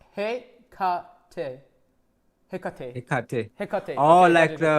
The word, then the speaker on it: Hecate: Okay, so it's pronounced Hekate.